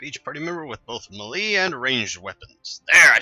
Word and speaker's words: melee: said the word right I know I keep calling it melee forgot what games I've also I've said that in but it's me Lee and I've been saying it wrong my whole life I feel like a